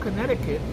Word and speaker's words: Connecticut: Earlier this year was found buried in a shallow grave in Connecticut. By the way, it's called Connecticut, but there's a C in the middle.